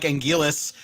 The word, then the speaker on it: Anguirus: I became, you know, I say Angurus now. So, Angurus for me. How about you, Nick? I'm actually gonna be in the uh odd ballpark here. I I actually like Angilis uh just with the L because yeah, you still have your your your the Japanese R turning into the L.